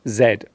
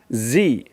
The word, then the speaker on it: Z: In British English, we usually call this the letter Z. In American English, this letter is pronounced Z, which can cause some confusion for those looking at the alphabet in other countries.